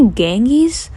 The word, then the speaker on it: Ganges: Apparently people say Ganges.